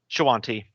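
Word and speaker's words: Shoanti: How do you say that word? Shawanti? Shawanti.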